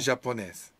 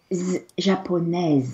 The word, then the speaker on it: japonaise: japonaise. Femelle, oui. Hein, So the japonais. S is silent here, but not silent here. Oui. Japonaise.